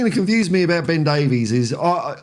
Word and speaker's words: Davies: confused me about Ben Davies is I like because his name is spelled Davies I say Davies but everyone else that I hear everywhere says Davis so I don't know